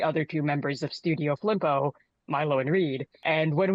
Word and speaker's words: Flimpo: Proud to thank Flimpo for such a sweet name, and I love how people think that it's like Filmpo, or there's like so many common like misspellings or mispronunciations of them.